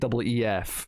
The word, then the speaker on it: Keith: His name's Keith, not Keith, just in case people think I'm saying that weird. It's Keef, right?